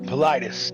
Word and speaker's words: Paulides: Politis.